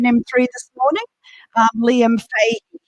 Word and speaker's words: Fahey: speak here in m3 this morning um liam fey it's pronounced just been told so liam's come all